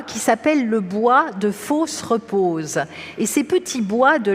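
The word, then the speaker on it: Fausses-Reposes: c'est un nom curieux ça s'écrit fausses comme faux ce qui n'est pas vrai et repose mais à l'oreille pour nous français on entend fausse la fosse la tombe et repose et il ya quelque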